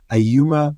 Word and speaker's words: Ayuma: And today we've got Ayuma Michelle.